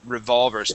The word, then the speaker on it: revolver: Okay, so our accent is going to be right here in the middle. There you go, revolvers.